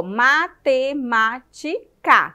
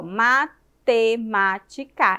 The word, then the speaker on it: matemática: E aonde, qual foi a sílaba que você pronunciou com mais intensidade? O ma.